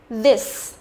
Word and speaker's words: this: Cái này sẽ là y ngắn, this, this, đấy, phát âm rất thoải mái miệng đúng không?